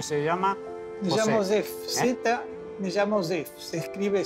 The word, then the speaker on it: Zew: Me llamo Zef. Me llamo Zef. Se escribe Z-E-W.